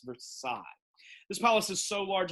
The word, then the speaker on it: Versailles: the palace of versailles i always have kids pronounce that versilies that's silly kids it's not versilies it's versailles this palace is so